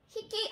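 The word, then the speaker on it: ひき: 마리라고 할 때는 짝필, 자, 요 한자를 써서 히끼 하고 발음을 합니다.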